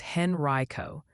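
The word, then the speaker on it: Henrico: Henrio, Virginia is Henri Reicho.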